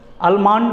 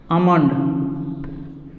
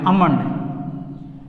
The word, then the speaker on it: almond: कुछ लोग अल्मंड बोलते हैं, कोई कुछ बोलते हैं, ये गलत है। ये ध्यान दीजिए यहाँ पे, A, उनके बाद L, उसके बाद MOND, यानी ये जो L है ये साइलेंट है। ALMOND में AL, यानी L जो है ये साइलेंट है, इसलिए L को हटा देंगे, जो बचेगा उसको पढ़ेंगे। इसलिए इसको हम लोग ऐसे बोलेंगे अमंड, ध्यान रखिएगा, अमंड, ये गलत है।